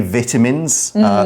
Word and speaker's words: vitamins: vitamins in it now normally I would say vitamins that is the British pronunciation I'm using the American pronunciation because somehow I think